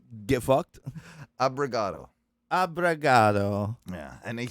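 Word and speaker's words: obrigado: It's But pronounced get fucked. abrigado.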